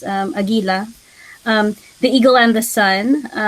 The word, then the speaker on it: Agila: For instance, in the film Ang Agila at Ang Araw in the Philippines, that would be pronounced Agila.